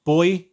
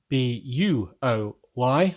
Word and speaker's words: buoy: got a big yellow buoy in them, B-U-O-Y. I know there are different pronunciations around the world, but we just pronounce it buoy. buoy, I think some people call them anyway.